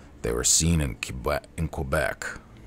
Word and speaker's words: Quebec: were seen in in Quebec I almost said cubec again spelled like q q back should be qua how would you spell qua q q be K they were seeing Quebec